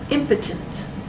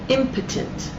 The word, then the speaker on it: impotent: impotent by the way the pronunciation of this word is impotent impotent the pronunciation of this